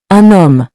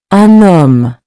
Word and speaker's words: un homme: For example, un homme. Notice how the N carries over because the word starts with a silent H. Let's pronounce it together. Un homme.